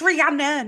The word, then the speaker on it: Rihanna: Rihanna you behave yourself it's Rihanna not not Anna an RP mate RP